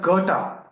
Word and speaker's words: Goethe: Oh, that's Goethe. It's pronounced.